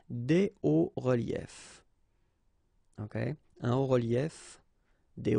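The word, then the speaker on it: hauts-reliefs: because S and S, but then we don't pronounce them here. Des hauts reliefs. Okay, un haut relief, des hauts reliefs.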